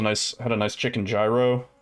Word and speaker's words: gyro: It was a nice had a nice chicken gyro or yurro I think it's supposed to be pronounced with the uh fresh onion tomato bit of lettuce then uh that little that little sample platter.